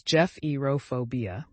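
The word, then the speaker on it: gephyrophobia: Bridges pronounced as Jeff Eeropobia.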